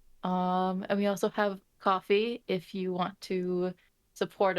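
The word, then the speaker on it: Ko-fi: just recently learned that it's coffee and not kofi yeah yeah definitely coffee kofi in new zealand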